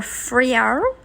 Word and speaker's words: Fremantle: Welcome to Fremantle, or Fremantle, as the locals say.